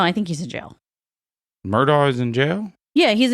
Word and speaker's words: Murdaugh: But Murdaugh spelled like Robert Murdoch? Huh? No, they pronounce it Murdaugh, even though it's spelled Murdaugh.